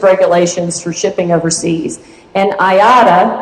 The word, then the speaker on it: IATA: And IATA, that's the pronunciation of the acronym, is the most common.